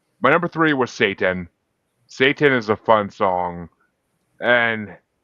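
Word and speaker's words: SAY10: Satan is a fun song and cuz he's saying like Yeah, it's spelled s a y10. So he's literally saying say 10, but you know what he's doing.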